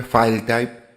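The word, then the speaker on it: filetype: Así se escribe, file type sería la pronunciación, PDF o PDF al final seguramente ya les va a aparecer.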